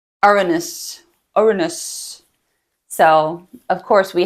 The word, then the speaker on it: Uranus: Despite what my husband and my 13-year-old son call it, that is how it's pronounced. And it's actually spelled a little bit different. It's like Uranus, Uranus.